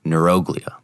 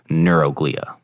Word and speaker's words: neuroglia: with and the second are neuroglia or maybe as you've read in your book or heard others pronounce neuroglia so let's briefly cover